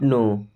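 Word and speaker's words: know: I don't नो। I means होता है मैं। डोंट मी्स नहीं। नो मींस जानता। इस नो वर्ड में के साइलेंट होता है।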